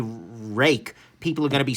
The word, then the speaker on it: Ruike: Look, I know that it's supposed to be pronounced rake. Like, I'm aware of this fact. They have made it clear on their website.